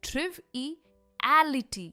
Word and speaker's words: triviality: अब हम देखेंगे sentences with the noun form, और इसकी प्रोनाउंसिएशन है triviality। यहाँ पर हम कहते हैं लिटी, और स्ट्रेस भी पर है, ट्रिवियलिटी।